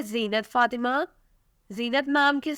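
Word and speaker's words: Zeenat: नाम है ज़ीनत फातिमा, नाम: ज़ीनत इसकी स्पेलिंग Z है।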